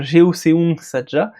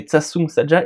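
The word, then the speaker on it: 저승사자: ça qu'on a su qu'il fallait pas dire Jeoseung Saja, mais Tsatsung Saja, et encore il paraît qu'on le prononce assez mal, voilà.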